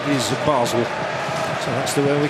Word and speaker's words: Basel: Funny, isn't it, how it was always known as Basle when I was a boy at school, but now we're told the correct pronunciation is Basel.